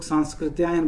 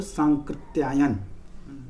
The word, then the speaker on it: सांकृत्यायन: था, वो राहुल सांकृत्यायन, लोग सांस्कृत्यायन बोल देते हैं, गलत उच्चारण है ये, उनका सही नाम है राहुल सांकृत्यायन।